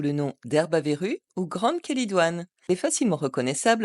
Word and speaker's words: Chélidoine: ses substances actives alcaloïdes avec le Che qui se prononce que l'origine grecque du M